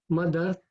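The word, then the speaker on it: मदर्थमपि: would read it as Madarthamapi. In English, it reads Madartham api. Please tell me how to pronounce correctly. So the English pronunciation, I replied to her that the English pronunciation is correct, madartham api.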